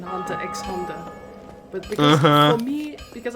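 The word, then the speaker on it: Hunter × Hunter: I also learned like 1 or 2 years ago that you're not supposed to pronounce the X in Hunter X Hunter.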